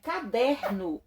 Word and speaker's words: caderno: está na antepenúltima sílaba já palavrinha caderno a sílaba tônica está na segunda na segunda sílaba de trás para frente não tá na penúltima sílaba última penúltima então essa palavra nós dizemos que ela é paroxítona bom então pessoal nós